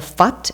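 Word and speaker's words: Phat: And then the Fat at the end is a very short syllable.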